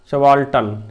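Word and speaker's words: subaltern: There supporters as द सवाल्टन, इसे सवाल्टन पढ़ते हैं, क्या पढ़ते हैं, ध्यान रखना, सवाल्टन। मैं फिर से रिपीट कर देता हूँ ताकि आप लोग समझ पाएँ। सवाल्टन, आर साइलेंट रहता है, इसका सवाल्टन का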